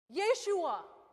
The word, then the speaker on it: Yeshua: Does anybody know how Jesus is pronounced in Hebrew? Yeshua.